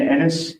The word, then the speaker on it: Ennis: My name is Ennis, E-N-N-I-S. Thank you. It rhymes with tennis, not other words.